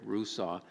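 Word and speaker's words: Rusaw: any of you are interested his last name is spelled r-u-s-a-w so Rick Russo he's written a number of books extremely engaging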